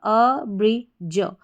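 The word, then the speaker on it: abridge: DGE को आप जब भी किसी स्पेलिंग में आए तो ज पढ़ेंगे। तो पूरी स्पेलिंग देखें, यहाँ पर शुरू में ए है, इसको हम ए या अ करके पढ़ते हैं। तो यहाँ पर पढ़ा अ, BRI हमारा बन गया ब्री, अ ब्री, और DGE ज। तो पूरी स्पेलिंग हमारी क्या बन जाती है, अ ब्री ज, अब्रिज, अब्रिज।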